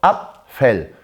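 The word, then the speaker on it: Apfel: 이런 거였죠 이렇게 됐을 때 모험 줘 페이가 발음이 되지 않았죠 아 펠 아 펜이 아니라 까 들어가야 된다 그래서 정확하게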